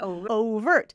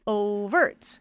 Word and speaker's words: overt: o o overt overt syllable stress on the first one you got it overt is there a way you can guess no cuz English is terrible and O's are the worst overt overt and just to know there's some how should we say there's both syllable stresses are possible you can say overt which is what I do or you can say overt so both are correct and it depends on